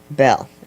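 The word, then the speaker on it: Belle: Bell. Yeah. Okay. So, the E is silent. Uh, be prepared. What? The E at the end is silent.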